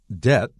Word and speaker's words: debt: Debt has a B, but no sound. We call it silent.